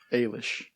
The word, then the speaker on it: Eilis: story under oh yeah of sarsa Rowan's character Ellis Lacey a young Irish immigrant Ailish Ailish yeah and it's Saoirse so you're gonna